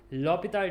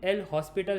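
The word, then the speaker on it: L'Hôpital: उस टेक्निक को कहते हैं लॉपिताल टेक्निक। उसका स्पेलिंग एल हॉस्पिटल है, मे बी आपने ऐसा पढ़ा होगा एल हॉस्पिटल, बट इट is known as लॉपितल, है ना। एच और एस साइलेंट है।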